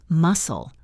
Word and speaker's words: muscle: A great example is the word muscle. We spell it s c l e, but we say muscle. The c is silent.